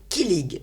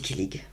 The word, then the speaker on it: kilig: C'est kilig. Alors, sans doute que c'est mal prononcé.